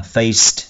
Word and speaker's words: faced: Âm ID ở đây đọc là tờ. Faced, nhưng khi đọc nhanh thì ta bỏ đi.